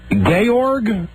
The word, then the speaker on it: Georg: First off, you play Georg? The accent is not on gay. In The Sound of Music. Sort of the Austrian version of George, and it's Georg.